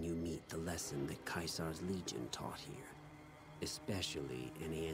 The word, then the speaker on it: Caesar: Caesar in Latin is pronounced Kaisar, but everyone else calls him Caesar. So the only people who call him Kaisar are like legionaries.